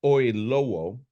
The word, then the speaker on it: Oyelowo: This is a new film starring Kaylee Cuoco, and we just mentioned his name, but David, let me pronounce this right, David Oyelowo, known best for, to me, he's Martin Luther King.